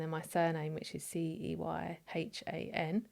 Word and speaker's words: Ceyhan: So then my surname, which is Ceyhan, which is actually pronounced Ceyhan, even though it's a C.